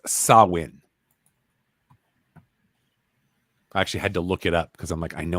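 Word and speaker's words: Samhain: at gentlemen oh wow samane yeah it's actually pronounced sawin I actually had to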